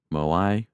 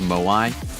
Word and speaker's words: Moai: Moi. Oh, Mo. It's pronounced Moai.